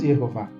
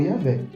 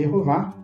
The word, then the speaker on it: Jeová: encontramos nenhuma vez esse nome tá nós encontramos Jeová mas nenhuma vez encontra-se yé ou yavé bom então entre os acadêmicos é muito popular essa pronúncia mas nos textos bíblicos hebraicos massoréticos mais de 1000 deles encontra-se jehová não se encontrou nenhuma vez e a vé